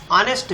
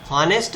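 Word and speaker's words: honest: एच को आप pointed करो, एच इंग्लिश का व्यंजन है, लेकिन इसका उच्चारण हिंदी के इसका हॉनेस्ट नहीं हो रहा है। इसका उच्चारण हॉनेस्ट नहीं हो रहा है, ऑनेस्ट।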